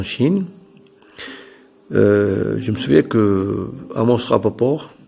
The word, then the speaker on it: Amos Rapoport: Je me souviens que Amos Rapoport, ou bien Amos Rapoport, prononciation anglaise, le fameux anthropologue, et parmi d'autres, qui ont participé à ce colloque.